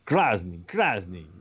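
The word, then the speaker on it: красный: So I'm like, he's like, you're Krasny. He's like, yes, Krasny. And he made fun of my pronunciation, but basically we figured it out that he wanted red lights.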